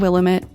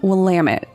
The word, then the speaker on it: Willamette: out on Instagram and actually send me the pronunciation for the river that the body was found in. I said Willamette, and it is actually Willamette, so thank you to Melody for helping out with that one.